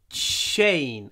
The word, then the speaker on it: chain: chain on his neck chain again another CH sound try to make it really like try to use a sha in your chain every time sha chain